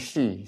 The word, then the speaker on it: Shy: And although this is shy, I pronounce Shi.